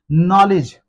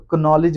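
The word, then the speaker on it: knowledge: नॉलेज दोस्तों आपके पास भी बहुत सारा नॉलेज होगा। तो कनॉलेज वर्ड भी गलत है क्योंकि इसमें भी के जो है वो साइलेंट है।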